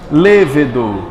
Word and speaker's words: lêvedo: eu tô gente agora lêvedo mais forte é o Lê pronto é o ingrediente